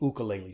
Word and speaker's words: ukulele: ukulele solos or to give it the Hawaiian pronunciation 101 easy ukulele solos and my first tip for playing this